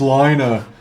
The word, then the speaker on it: Lena: the queen of Fon Lina Lina Lena it's pronounced Lina oh so good